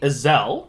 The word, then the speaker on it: Ezell: the Sager scribe podcast today we have Iselle that's how you pronounce it correct yeah that's right writer of